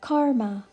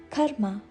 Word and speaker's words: karma: often pronounce it as karma but the correct pronunciation is karma k a short K followed by a slightly longer ma K ma Karma it